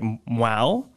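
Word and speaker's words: Hmong: And it's spelled H-M-O-N-G, but pronounced, hopefully I'm doing this right, Mwau.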